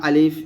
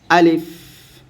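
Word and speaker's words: ألف: দেখুন আমরা এটাকে সবসময় আলিফ এরকম পড়ে আসছি বা আলিফ এরকম টান দিয়ে পড়ে আসছি। তো টান দিয়ে পড়া যাবে না। তাড়াতাড়ি পড়তে হবে। আলিফ।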